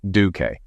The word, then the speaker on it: Duke: We hired a new waiter for Richardson's Garden, a retired Navy chief named Duke, pronounced Duque, who also drove for Mom and moved into a spare room at her house to assist her if needed.